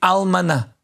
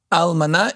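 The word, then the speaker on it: אלמנה: And the almana. Almana is the Hebrew word for widow. Spell it for Or us.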